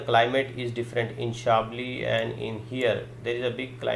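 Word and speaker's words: Chablis: सो the first area हम देख लेते हैं, that is द शाबली, pronunciation is शाबली, which is ऑन द टॉप.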